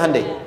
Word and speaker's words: Hyundai: bikin Honda sini hundai Hyundai kan dibacanya hundai ya kan sana Honda